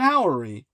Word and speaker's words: Howery: His surname is spelled ho y like brewery except the brewing house. Ken Ory, who formerly served as